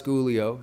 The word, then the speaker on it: Squglio: But so Skylar Schoolio is how you say it. Schoolio. And you spell it. So it's hard. SQUGLIO. Now here's the key thing.